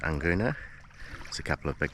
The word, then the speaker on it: Nguna: I think it's pronounced Anguna.